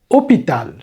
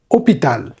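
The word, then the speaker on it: hôpital: হচ্ছে হসপিটাল এটা হচ্ছে অপিতাল অপিতাল কিন্তু উচ্চারণের সময় খেয়াল করবেন ধরতে হবে এইচটা নাই অপিতাল নয় কিন্তু এইচ বাদ যাবে এইচ বাদ দিয়ে উচ্চারণ শুরু হবে ও থেকে অপিতাল অপিতাল ঠিক আছে দেন আমরা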